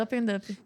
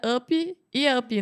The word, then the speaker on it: Up and Up: porque se for falar em português é up e up, né? Sim. Eu acho que não fica muito bom A pronúncia? a pronúncia. Como é então? É up and up.